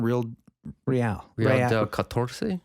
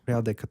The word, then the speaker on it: Real de Catorce: Real del Catorce? Real de Catorce.